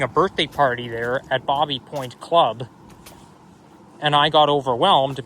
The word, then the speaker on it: Baby Point: There's Bobby Point Club. Now, I know it's spelled Baby Point, but technically speaking, it's pronounced Bobby Point because it's French.